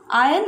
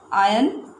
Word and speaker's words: iron: So iron is a useful metal. So which are the nouns here? One is iron. How you pronounce it? It is not iron. Alright, it is iron. R will be silent.